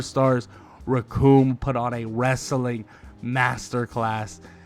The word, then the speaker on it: Recoome: This is why you'll never be as good as the one and only Recoome. And his name rhymes with doom.